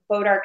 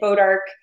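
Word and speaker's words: bois d'arc: have a lot of bodark trees and my husband he's part French and bodark the way that they spell it's a French word um so anyways came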